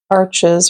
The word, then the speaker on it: Arches: a piece of paper this is Arches or Arch if that's how you want to pronounce it if you want to be all French about it um I took French